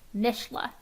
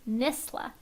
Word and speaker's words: NSSLHA: But if not, this says, there is no sh in NSSLHA. We've heard our acronym pronounced a lot of different ways, but the most commonly incorrect way we hear it is NSSLHA.